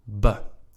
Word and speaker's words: be: with the word or the prefix ba right b e pronounced in Dutch and what does that